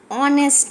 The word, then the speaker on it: honest: See, an honest man. Here h is silent and is starting honest, o.